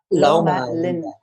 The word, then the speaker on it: Loma Linda: And Loma Linda, is that how you pronounce it? Loma Linda.